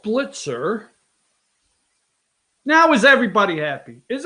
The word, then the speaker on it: Blitzer: It's Wolf Blitzed to me. I'm not mispronouncing it. I always called him Blitzed. What the hell? Damn. Get me all worked up. Wolf Blitzer.